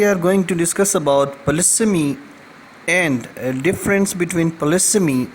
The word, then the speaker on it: polysemy: And today we are going to discuss about polysemy and a difference between polysemy and homonymy. Well, first of all, we need to understand that this is the word polysemy. It is not polysemy.